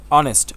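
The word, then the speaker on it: honest: হচ্ছে না এটা হচ্ছে অনেস্ট অনেস্ট এইচ এর উচ্চারণ হচ্ছে না এই যে এখানে আমরা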